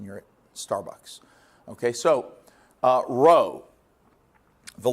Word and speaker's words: rho: but I want to tell you how to pronounce it. It goes R H O, all right? And this letter is rho.